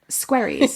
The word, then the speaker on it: Squerryes: squaries.